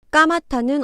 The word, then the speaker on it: 까맣다: 까마타는 어떻게 발음할까요?